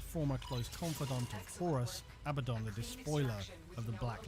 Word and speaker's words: Abaddon: And yes, I relinquish my pronunciation of Abaddon to Abaddon, despite having spoken Operator, you have remembered well how the Tenno arm themselves.